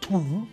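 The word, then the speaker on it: two: 1, 2, 3, well, there you go, don't you? The second number in that set of 3. We don't say 2, do we? No, the W is silent.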